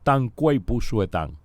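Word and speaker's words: Dang Gui Bu Xue Tang: Uno de ellos es una fórmula que en chino llamamos tan cuipu suetan. Se escribe D, la D de dedo, ANG G,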